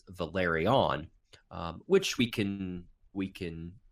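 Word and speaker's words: Velaryon: that pronunciation right because I always want to say valaria see I just must I just messed it up yeah valerian but of course their name is Valeri on which we can we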